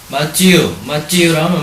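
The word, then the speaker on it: Matthew: 우리가 자주 말하는 마태복음은 마찌우라면 마찌우. 발음이, 이 발음이 마찌우.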